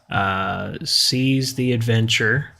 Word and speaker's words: Seas the Adventure: As far as Broadway shows go, Seas the Adventure, that's spelled SEAS, as in seas, like that the sounds ocean. like seas the day.